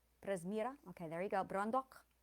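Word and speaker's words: Prezmyra: Presmira on the second. Presmira.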